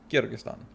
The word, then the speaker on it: Kyrgyzstan: exists or how to say it which is kyrgyzstan but yeah just like it's not kurabati it's